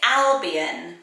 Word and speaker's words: Albion: trendy next name is albion so i wondered if this was just pronounced album but when i've looked at pronunciation it does come up as albion i really like it